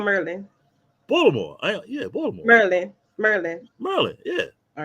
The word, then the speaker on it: Baltimore: Baltimore, Maryland. Baltimore.